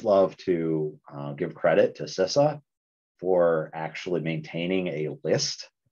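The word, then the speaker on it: CISA: from sisa was like no Paul it's Sissa I'm like okay I won't make that mistake ever again nice okay oh now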